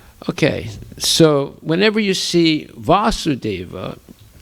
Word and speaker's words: Vasudeva: Okay, so whenever you see Vasudeva, it can be with a long A or a short A. When it has a short A, it refers to Krishna's father, but it can refer